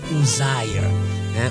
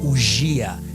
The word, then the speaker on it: Uzziah: Now, because the people of the village where she came from, they could not pronounce her name is an English name, so they used to call her Ujia, but her name is an English name.